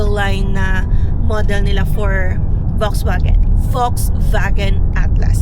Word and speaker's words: Volkswagen: Top of the line na model nila for Volkswagen Volkswagen Atlas. So we pronounce daw sa German yung V as F and iyung W as V.